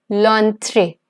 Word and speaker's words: l'entrée: And we pronounce it together, so it's going to be l'entrée.